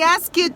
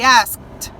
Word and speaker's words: asked: Então, o passado, a pronúncia, ele tem o ED, mas eu não falo como ED, eu falo como se fosse um T. I asked. I asked.